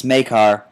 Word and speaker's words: Maykar: That's how, because he spells it differently than you pronounce it, but it's Maykar, or the Maykar locomotive.